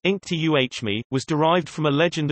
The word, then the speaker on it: Inktomi: for 241 million dollars the company's name pronounced Inc tuh me was derived from a